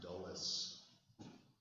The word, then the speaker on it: Dulles: President Eisenhower's Secretary of State is a man by the name of John Foster Dulles. It's spelled like this: D-U-L-L-E-S.